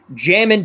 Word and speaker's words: Jamin: this is wrong but jamming davis it's just it's yes jamming my buddy's little brother's the same name all right good because that is the best way to pronounce that name jamin davis i'm going